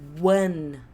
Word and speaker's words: one: E presta atenção na pronúncia, que isso daqui começa com som de W, tá? É one, one, one, one, one, one.